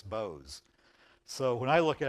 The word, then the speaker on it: Boaz: I said oh so your last name is Boaz she went no it's Bose so when I look at I think of Bose but um we always pronounce it as Boaz um huh and Boaz is the one who